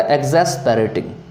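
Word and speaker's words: exasperating: Next है आपका एग्जैस्पेरेटिंग। एग्जैस्पेरेटिंग जो होते हैं, एग्जैस याद रखिएगा, यहाँ पे एक्सेस नहीं होगा, यहाँ पे एक्स जो है वो ज का प्रोनाउंसिएशन देगा, ठीक है, तो यहाँ पे एग्जैस्पेरेटिंग हो जाएंगे।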